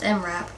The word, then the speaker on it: MRAP: ambush so basically it's a yeah it is pronounced mrap so that's oh wow that's what they're designed